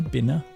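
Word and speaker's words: Binah: How do you pronounce it? Benna. The battle. Bina. Bina.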